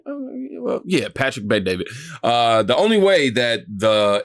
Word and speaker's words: Patrick Bet David: Well, yeah, Patrick Bet David.